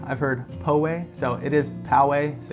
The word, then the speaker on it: Poway: east in a little city that we call Poway. I've heard Poway, so it is Poway.